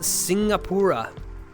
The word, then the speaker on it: Singapura: It's pronounced Singapura. Singapura cat.